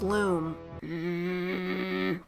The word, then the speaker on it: Lum: But anyway, Rayman's BFF Glowbox gets thrown in his cell, and he's got, oh, it's a lum. Oh, it's pronounced loom.